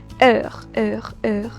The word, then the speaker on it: heure: So only time, I'll pronounce this particular, yeah, heure, that's the way you pronounce it.